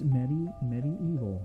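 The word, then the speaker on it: MediEvil: Sony published title Medieval. I don't know if that's how you pronounce that. It's Medieval. That's how British people say it.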